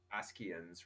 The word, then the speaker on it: Ascians: If you're going to pronounce it in Greek or in Latinized Greek or any of that, like, it would be Ascians, right? Like, shadowless.